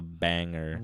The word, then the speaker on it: banger: The theme is a banger. It's a banger, Joe. It's so annoying. I'm sorry. I can't say banger right. How do you say it? A banger. Banger. You don't pronounce the G.